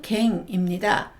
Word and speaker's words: 件: 낮게라는 뜻도 들어가 있습니다 음독은 갱입니다 사건을 늦게 직행이라고 하고요 조건을 조갱 조갱이라고 합니다 용건을 요게 요게이라고 합니다 우리나라 말은 검이지만 일본어는 갱이라고 발음합니다 물건 건 자는 운동만